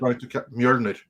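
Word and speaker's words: Mjölnir: How do you pronounce it? Mjolnir.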